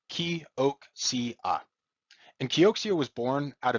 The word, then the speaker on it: Kioxia: It is pronounced Kioxia, and Kioxia was born out of Toshiba in 2019.